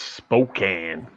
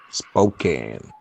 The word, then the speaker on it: Spokane: It's pronounced Spokane. Spokane.